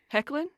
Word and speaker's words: Hoechlin: Hecklin? Is that how you say it? Tyler Hecklin? Yes, Oh.